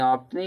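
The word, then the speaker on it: often: Mostly लोग ऑप्टन पढ़ा पढ़ते हैं। लेकिन ऑफ नहीं होता है। ये क्या होता है? ऑफन होता है।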